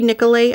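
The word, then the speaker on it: Nicolet: was to walk to Nicollet National Forest that could be nicolay I've heard it pronounced both ways this is where they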